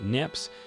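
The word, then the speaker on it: Niépce: smartphones when Joseph mccafford neopsy pronounced nips took the first photograph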